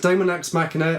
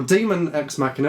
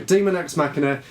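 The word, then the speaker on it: Daemon X Machina: supposed to be pronounced even though it's spelt daemon is actually some sort of old-style way of saying demon so demon ex machina they showed it off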